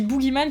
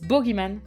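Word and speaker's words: bogeyman: du boogiean en français je dis boogiean qui est la prononciation américaine d'ailleurs on entend dans l'épisode il disent boogyan qui est la prononciation britannique voilà comme ça tu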